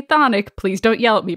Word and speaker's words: chthonic: which is spelled c-h-t-h-o the british pronounce the c-h the americans don't so i'm gonna say thonic please don't yell at